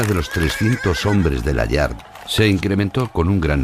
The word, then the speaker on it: Layard: de Arnold brackman bueno decimos layard decimos layard porque en realidad el origen de la familia era Era francés y a veces la pronunciación cambia un poco no Aunque él siempre se